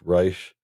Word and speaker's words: Reich: Last name spelled like Reich, but he prefers it to be pronounced Reich.